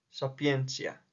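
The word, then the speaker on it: sapientia: número dos filosofía est sapiencia recuerda que en este caso el digrama cuando es una t más una I y una a se pronuncia como C sapiencia número tres Rosa Alba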